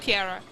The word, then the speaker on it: Tierra: it's a tiara but it's pronounced like you roll your r so it's like tierra hey